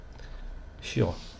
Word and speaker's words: Chiò: A gente pronuncia assim, né? Mas esse matemático, eu não consigo me lembrar agora o primeiro nome dele, ele é italiano. Como é que era o primeiro nome dele, gente? Eu não lembro. A pronúncia então seria Chiò, né? Por ser italiano.